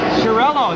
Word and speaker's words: Chiarello: Chiarello, is that how you say it?